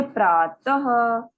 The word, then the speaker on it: प्रातः: इसके उच्चारण में स्वर के साथ हल्के ह का भी उच्चारण होता है। जैसे प्रातः, अतः, रामः, गजः, नरः।